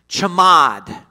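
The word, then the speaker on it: חמד: Well, the Old Testament Hebrew word for covet is pronounced chamad.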